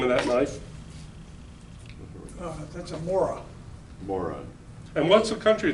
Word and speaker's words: Mora: Larry, how do you pronounce the name of that knife? That's a Mora, More And what's the country?